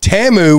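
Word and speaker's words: Temu: it's t e m u t fck it's pronounced TAMU would be T muu it's TAMU I'm not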